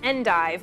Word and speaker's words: endive: eat everything over here this is endive or if you're fancy you can pronounce it on and actually both are acceptable so say whatever one